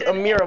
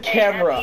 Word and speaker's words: Amera: So her name is Amira, but it's spelled C-A-M-A-R-A. I mean, no. I just said camera. A-M-E-R-A. So it's A-M-E-R-A, and I used to say, what's up, camera?